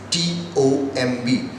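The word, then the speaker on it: tomb: and the common word is T OMB usually we are having variety of annotation but a common form of pronouncing this word is Tom or we are having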